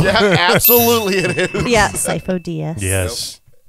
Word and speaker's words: Sifo-Dyas: Yeah, Sifo-Dyas. Yes. Nope. It's spelt really weird.